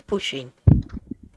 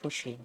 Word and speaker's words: Pusheen: Sheen I think it's pushing I think it's pronounced Pusheen which is a Japanese